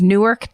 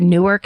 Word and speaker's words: Newark: This guy terrorized my hometown of Newark, Delaware. Um so it might not be pronounced Newark because you know how they do the stateto state name change thing.